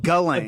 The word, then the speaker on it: Ghislaine: Ghislaine. Ghulain. Ghulain. I always say "J" cuz of the GH.